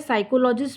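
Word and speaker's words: psychologist: देखिए क्या हो गया साइकोलॉजिस्ट रूपी साइलेंट होता है साइकोलॉजिस्ट हो गया पी से क्या होता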